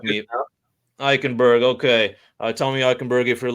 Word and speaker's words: Eichenberg: Oh, man, I never really practiced pronouncing his last name. Eichenberg. Please correct me. Eichenberg.